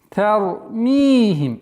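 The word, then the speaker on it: ترميهم: Ра твердая, та мягкая. Не тар, нет. С мягкого на твердое, на возвышение. Тармихим. Здесь в размере двух огласовок мы применяем естественное удлинение. Тармихим.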